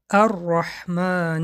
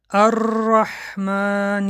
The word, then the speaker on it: الرحمن: حرف تکرار حرفی که باید این صفت از آن سر نزند حرف را می‌باشد. در رسم می‌بینید وقتی که ما حرف را تلفظ می‌کنیم نوگ زبان به کام می‌رسد و در اینجا باید ما خودداری کنیم که از اینکه یک چند را تلفظ نشود مثال‌ها را می‌خوانیم الرحمن الرحیم بعضیها میخوانن الرحمن الرحیم یعنی حرف را از دو زیاد می‌خوانن کرتن ببینید کرتون اگر